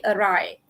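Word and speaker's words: awry: Tapi it's actually array. Okay. Okay, it's silent W, lepas tu RY, array. Okay.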